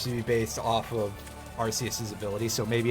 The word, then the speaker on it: Arceus: actually play Pokemon Legends Arceus. Or Arceus, as it is apparently pronounced in English.